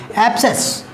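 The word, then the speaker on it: abscess: Next जो meaning है वो है ABS CESS, एप्सेस। क्या ये भी ये जो है प्रोनाउंसिएशन एप्सेस, ABS CESS, ये होता है मवाद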